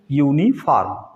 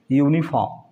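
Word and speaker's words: uniform: एन के पहले आ गया है, एन व्यंजन के पहले यदि यू आता है तो उसको यू ही पढ़ते हैं, यूनिफॉर्म, यूनिफॉर्म, ठीक।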